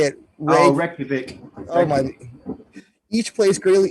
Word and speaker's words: Reykjavik: Reykjavik.